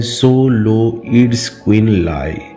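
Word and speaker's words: Xoloitzcuintli: इसका उच्चारण है जोलो इट्सक्विंटलाय।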